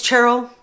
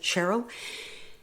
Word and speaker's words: Cheryl: doesn't bother me so my name is cherl but uh you're more than welcome to pronounce it Cheryl I live in central